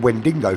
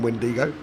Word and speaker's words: Wendigo: I called him Wendingo for 6 races. Wendigo. It's only when he messaged me and said there's no N in Wendigo.